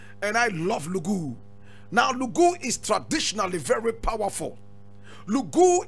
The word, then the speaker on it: Lougou: just around 1860 that was when she was born and she was born in a place known as lugu l-o-u-g-o-u lugu interested now today you go as a population